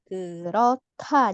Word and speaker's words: 그렇다: Gerota jadinya ta ya.